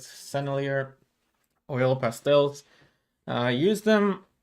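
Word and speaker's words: Sennelier: uh oil pastel and I uh Googled how to pronounce these These are senier that's what Google said so that's what I'm going to stick with with celier oil pastels I used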